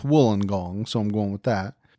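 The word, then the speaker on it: Wollongong: Now, you would think it's pronounced Woolen Gong. You would think, but I've been told that it's Wooling Gong, so I'm going with that.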